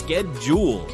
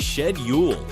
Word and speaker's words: schedule: Words like schedule can be pronounced differently. In American English, it's skedjul, but in British English, it's shed. Both are correct.